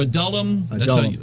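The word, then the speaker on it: Adullam: I know about that a dulum or a dullum that's how you pronounce it I say Ad dullum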